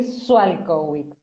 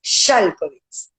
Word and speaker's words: Szalkowicz: yo siempre te dije Sualkowicz. O sea, para mí vos eras Sual. En polaco, en la SZ es sh, es el sonido sh, es Shalkovitz.